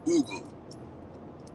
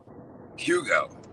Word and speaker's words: Hugo: your full name woman in Portuguese my name is pronounced Google how do you pronounce it here in the states Hugo Hugo what's what's your